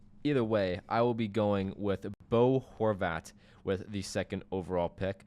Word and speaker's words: Bo Horvat: at that great player I'm going boat Bo Horvat number two get your pronunciation right there buddy but uh yeah I